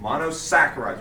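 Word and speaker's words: monosaccharides: Monossaccharides. Oh, that's really close. Yeah. Pronounce it like a saccharide. Monossaccharides. We don't pronounce the H.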